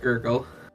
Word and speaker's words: Smith: again okay good good spelled like Smith pronounced ggle hey no you don't